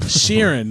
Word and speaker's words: Sheeran: don't know I'm sorry she said it right Sheeran that's what it is whatever you said yeah